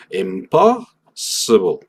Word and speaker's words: impossible: Pero en inglés nos vamos a cargar más hacia la mitad o incluso el principio de la palabra. Impossible. Esto hace que el final sea como solamente el vuelo, como solamente lo superficial de los fonemas. Impossible. O sea, yo puedo decir esto de una manera rapidísima y muy poco clara. Impossible. Y no hay problema porque mi énfasis está en el principio.